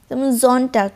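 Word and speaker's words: Sonntag: Johnny জনে means সান জন্টাক জন্টাক মানে হচ্ছে সানডে জন্টাক জন্টাক মানে হচ্ছে সানডে তাই এস এর উচ্চারণটা ওরা জ এর মত করে এন্ড ফর টিশ ফর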